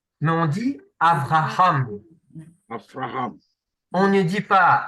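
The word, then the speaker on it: אברהם: V, Mais s'il n'y a V, pas de point dedans, ça se prononce V. bête, C'est pour ça que on dit pas Abraham, mais on dit Avraham.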